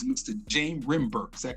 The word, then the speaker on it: Rembert: James Rembert. Is that correct? Yeah, it's Rembert. Rembert, I'm sorry. Okay, I want to make sure I'm pronouncing it correctly.